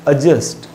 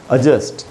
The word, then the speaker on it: adjust: एडजस्ट, ए डी J-U-S-T, उसका correct pronunciation है adjust, और वो आधा अ से स्टार्ट होता है, जैसे अबाउट या अराउंड स्टार्ट हुए adjust, उसमें डी साइलेंट होता है adjust.